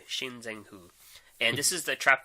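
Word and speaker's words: Xing Zhen Hu: So I'm going to go with Shinzen-Hu. For those who can't pronounce it, it's the one that begins with Xing. Shinzen-Hu.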